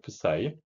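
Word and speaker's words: ψ: qa 어떤 함수 어 파 사이라고 읽습니다 프사이 프사이 함수 tl th tlga th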